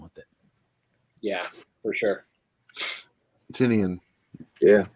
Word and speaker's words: Tynion: It's Tynion, apparently. It doesn't. Be surprised. It's like every other month somebody convinces me it's a different way. So I think it's pronounced Tipton. It's Tiny, and that's why he calls his company Tiny Onion.